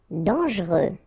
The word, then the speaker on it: dangereux: Dangereux. Okay, so final X not pronounced, and then don't really pronounce this here.